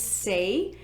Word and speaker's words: Saie: brand that's on there i think you pronounce this say it's their glowy super